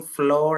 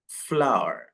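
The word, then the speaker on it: flour: ഫ്ലോർ എന്ന് പറയും അപ്പൊ ഇത് ശരിക്കും ഫ്ലോർ അല്ല ഇത് എങ്ങനെയാണ് ഉച്ചരിക്കേണ്ടത് ഫ്ലവർ ഫ്ലവർ നമ്മൾ പൂവ് എന്ന് പറയും ഫ്ലവർ പറയില്ലേ അതേ ഏകദേശം അതേ ഉച്ചാരണമാണ് ഇതിന് വരുന്നത് ഫ്ലവർ ഫ്ലവർ ഫ്ലവർ ലാസ്റ്റ് ആറ് ശരിക്കും അങ്ങോട്ട് പറയില്ല ഒരു സൈലന്റ് ആണ് ഓക്കേ സോ ഫ്ലവർ ഫ്ലവർ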